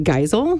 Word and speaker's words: Geisel: And Kelly, you are Madge, tell me if I'm saying it right, Geisel?